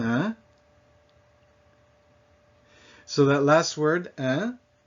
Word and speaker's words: hein: So that last word, hein, it's like in English, huh? It's a fine wine, huh? As in, isn't it?